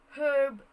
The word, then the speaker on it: herb: sound was being pronounced but there are words where ha sound remains silent for many american speakers but is pronounced by others and by british speakers generally such as the word herb the word herb was pronounced as herb in british speakers but in some american speakers they pronounce it as herb herb